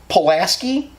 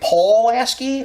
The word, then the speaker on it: Pulaski: Apparently, everywhere else in the country, Pulaski isn't said that way. It's said like Paul-lasky or something.